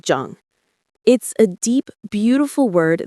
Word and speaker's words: Jeong: They practice a concept called Jeong— pronounced like “Jong.”